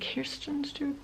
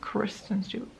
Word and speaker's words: Kristen Stewart: Is it Kirsten Stewart? Kristen Stewart. I should really look that up before I just say her name wrong the entire video.